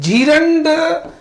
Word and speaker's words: gerund: अब आते हम लोग जेरेंड पे। ठीक, जेरेंड, ठीक है, जीरेंड हम लोग बोलते हैं लेकिन एक्चुअल प्रोनाउंसिएशन जेरेंड।